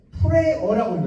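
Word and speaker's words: prayer: 뭐뭐에 대한 뭐뭐 얘기할 수도 있지만 나의 외로운 자 기도라고 할 때 여러분 이게 이것도 사람들이 많이 틀리는데 프레어라고 해요. 프레어 우리말 써서 프레어는 기도고요. 프레이어가 되면 기도하는 사람이 돼요.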